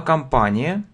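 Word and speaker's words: company: слово произнес Да но на самом деле это произносится как ка то есть видите Многие говорят ко начинают на compy это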